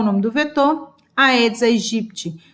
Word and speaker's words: Aedes aegypti: o nome do vetor aedes aegypti tem gente que diz que a pronúncia correta edes egipt qual é a melhor